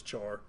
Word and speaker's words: char: So, how about char is how that is. We often pronounce it as char.